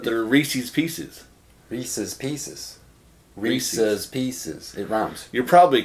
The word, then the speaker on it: Reese's: that word is Reese's Reese's is how you say yeah I say Reese's oh it's a guy's name Reese rhiness his cups Reese's there's a lithography yes